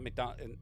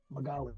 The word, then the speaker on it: Magali: and Chilitos, and not Migdalia. It's Migdalia's place. That's why nobody fucks around. It wasn't Migdalia. Her name was Magali.